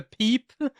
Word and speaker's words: Pip: And it's a peep.